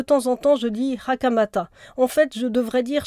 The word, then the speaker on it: Hakamata: petit frère et bien je préfère euh quand je je j'y prête attention dire hakamata parce que elle elle-même prononce son nom ainsi voilà je vous remercie